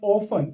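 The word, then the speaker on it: often: ऑफन में T silent होता है और इसको हम लोग पढ़ते हैं ऑफन अक्सर के लिए।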